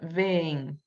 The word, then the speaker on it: vêm: que a única diferença, the only difference between them is the accent, esse acento circunflexo, in the letter E, na letra E. E quando tem ela, a gente tenta pronunciar um som mais prolongado, a longer sound. So the difference, this one we say vem, and the last one vem. I don't know if you can see the difference.